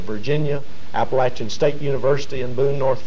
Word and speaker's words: Appalachia: I think we're safest in saying there probably isn't. I never heard the word Appalachia until I was 25 years old. Right. When I was a youngster growing up, we always referred to it as Appalachia, Appalachia, Virginia, or the Appalachian Highlands. And I suppose either pronunciation is correct. But I think in the southern mountains, we have tended to say Appalachia if you go back before the 60s.